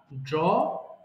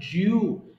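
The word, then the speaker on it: drew: ওকে, ড্র, আঁকা, ড্র, ড্রু, ড্রন। মাঝখানে ওটা সারা জীবন আমরা বলে আসছি ড্রিউ, কিন্তু এটা হবে ড্রু।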